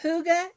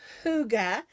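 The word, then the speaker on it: hygge: over a little this Poncho this is my Huga day Poncho um this is made with red hearts Huga it's spelled h y g g e and the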